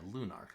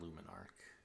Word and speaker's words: Lunarch: Yeah, Lunarch, not Luminarch. What's Luminarch from?